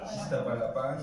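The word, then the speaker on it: Iztapalapa: No, es que ese es el nombre correcto. Sí, sí. Iztapalapán, ¿qué más?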